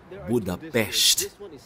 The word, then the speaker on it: Budapest: So ang tama palang bigkas ay Budapest.